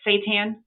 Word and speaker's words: seitan: And I'm going to make some seitan. Am I saying it right? Seitan?